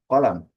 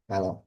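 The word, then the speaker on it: قلم: Dalam bahasa Arab standar atau fusha dilafalkan kolam dengan bunyi qaf yang kuat dari tenggorokan. Berbeda dengan sejumlah dialek Amiyah yang mengubah bunyi qaf menjadi ga atau ka. Jadi dibacanya galam atau kalam.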